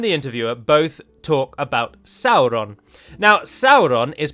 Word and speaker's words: Sauron: he not do that he himself pronounces it as sauron shortly afterwards without a missing a beat and yet we know from his own hand that he said it should be pronounced sauron so if the person